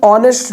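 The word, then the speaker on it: honest: है जैसे कि एन ऑनेस्ट मैन होता है तो ए कॉन्सोनेंट है बट ये आवाज ओ की प्रोनाउंस कर रहा है एंड वी are just a नेगलेक्टिंग एज इट्स ऑनेस्ट इट्स नॉट नेस्ट तो अगर ऑनेस्ट आ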